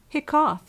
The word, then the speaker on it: hiccough: Hiccough has the sound of cup.